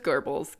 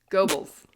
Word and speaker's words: Goebbels: Joseph Goebbels.